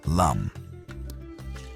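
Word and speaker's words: लं: The Sanskrit seed mantra here is LAM, pronounced LUM.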